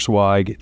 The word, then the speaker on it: Zweig: Swag. Thank you so much for joining me today sir. Sai thank you for pronouncing my name properly.